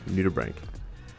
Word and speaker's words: nudibranch: is called a giant nudibranch which it's kind of spelled nudie branch but that's not how it's pronounced it's pretty hard to